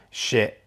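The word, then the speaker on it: Schiit: a Shit Jotunheim 2, Shit S-C-H-I-I-T, I think, not the way that everyone else would think it's spelled.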